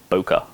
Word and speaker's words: bokeh: depth of field but it just sounds so cool when you say it like bokeh bulker bokeh so yeah bokeh uh